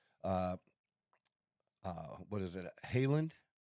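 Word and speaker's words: Haaland: Haland. Oh, Erling Holland. Yeah. For Norway. Does it they pronounce it Haland or Holland? I know it's Holland. Yeah, I've always heard it's Holland.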